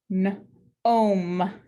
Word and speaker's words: gnome: And finally, we have ghost letter digraph GN. We have O consonant E. Gnome.